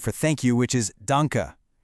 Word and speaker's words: danke: Then we have the word for thank you, which is danka, pronounced dunka.